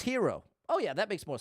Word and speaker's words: gyro: similar to a bagel gyro is pronounced hero oh yeah that makes